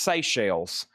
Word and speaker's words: Seychelles: Okay, it's pronounced Seychelles.